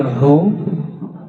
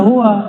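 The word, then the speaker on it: هو: huruf akhirnya membidahkan zikir hu Allah. Ya, coba baca ayat kursi depannya aja. Allahu ya. Hu bacanya hu jangan hua kecuali disambung panjang enggak hunya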